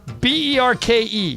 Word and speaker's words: Berke: BERKE.